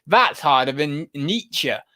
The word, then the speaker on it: Nietzsche: That's harder than Nietzsche. I was saying night chats or something for ages.